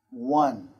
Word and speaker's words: one: One. One. One. One. Stop. One. One. Do you hear the difference? Wa. Wa. So one is the different vowel sound, okay?